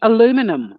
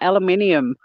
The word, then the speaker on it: aluminium: to go flat um you know aluminum what the put that eye back in and pronounce it properly it's aluminium but yeah i yeah i'm